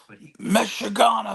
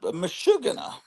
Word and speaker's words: meshugana: Okay, so the thing would use Yiddish words, and he would say this whole Meshagana mess, and that's how I would pronounce it in my fourth grade mind. But it's Meshugana.